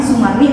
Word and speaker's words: Soemarni: Nah, ejaan itu membakukan penggunaan OE buat dibaca jadi U. Nah, jadi nggak heran nih kalau orang dulu gitu ya, ada nama orang namanya Sumarni tapi nulisnya itu jadi Soemarni gitu.